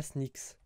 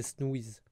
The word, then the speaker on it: Snooze: Alors, par contre, c'est pas Sneaks, c'est Snooze. Snooze.